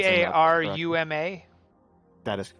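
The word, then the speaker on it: Tarumã: This one is Taruma International. I hope I'm pronouncing that Taruma.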